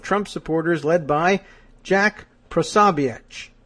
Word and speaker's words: Posobiec: supporters led by Jack Posobiec. I'm going to give that sort of that Central European pronunciation at the end, that's C.